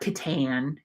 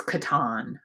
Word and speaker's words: Catan: settlers of katan uh it's not catan it's katan i know because i say it wrong all the time this is a hefty